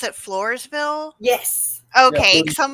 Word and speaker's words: Floresville: know, and is it in, like, do you pronounce it Floresville?